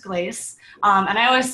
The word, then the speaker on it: Glacce: that big of a deal but it is pronounced glace um and I always say like as long